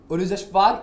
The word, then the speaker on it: Urooj Ashfaq: Today I have Queens of Comedy, Urooj Ashfaq and Dwijal Mehta. Did I pronounce it right?